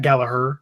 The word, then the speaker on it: Gallagher: I really want Jack Gallagher to come in there because I could think he could or Jack Gallaher because apparently that g is silent but I think he